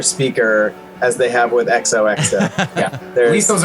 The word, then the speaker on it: Exohxo: Anyway, lots of misspellings, Exodus mispronunciations. was Exodus. we were billed it on a show as Exodus. Exodus. We had to inform thousands of disappointed people that we were not, in fact, Exodus.